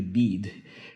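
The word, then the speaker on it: بید: But in South Asian pronunciation it would be Bed, but in modern Iranian pronunciation it would be Beed, which, like the willow, which is Beed, bear no fruit at all.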